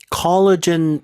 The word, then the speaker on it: collagen: 피부 좀 더 깊숙한 곳까지 뚫고 들어가는데 to stimulate collagen production, 우리 그 콜라겐이라고 하는 네.